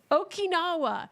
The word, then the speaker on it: Okinawa: don't think I've ever said that out loud Okinawa that's why I'm saying it wrong okwa you're